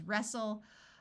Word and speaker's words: wrestle: like in Castle wrestle note that when a word starts with w the W is silent so this word is wrestle Apostle and whistle words